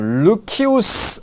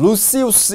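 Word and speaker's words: Lucius: 그 다음에 여기에 어떻게 읽냐면 세네카는요, 루키우스 혹은 루시우스 이렇게 읽어도 돼요.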